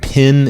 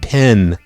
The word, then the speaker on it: pen: actually, but they said people from the South, they pronounce it pin instead of pen.